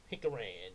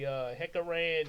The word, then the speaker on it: Hickoran: We're just gonna say Hickoran, yeah. Hickoran. Some people reading it might say Hekaran, even though there's no C in it there.